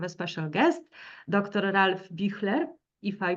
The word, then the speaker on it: Büchler: Ralph Büchler, if I pronounce it correctly in German.